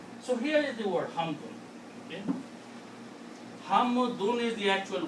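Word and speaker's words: حمد: We pronounce hamd because we stop. And in Arabic, when you stop, then you don't pronounce this noon. But the word is not hamd. The actual word is hamdun.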